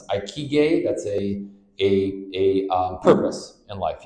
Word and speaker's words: ikigai: Obviously, you got to have an how do you pronounce it? Ikigai.